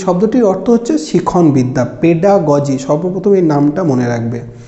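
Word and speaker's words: pedagogy: বহু ক্ষেত্রে অর্থাৎ বহু স্টুডেন্টের মুখে, যেমন আমি শুনেছি বহু বইতেও এইটি পেডাগজি বলে লেখা থাকে, যেটা কিন্তু একদমই ভুল। এটার উচ্চারণ হচ্ছে পেডাগজি। এটা তোমাদের কোশ্চেনেও আসতে পারে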